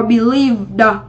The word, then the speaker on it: believed: Vậy trước khi thêm đuôi ED mình đọc là v, vậy chúng ta sẽ có believed, đúng không ạ?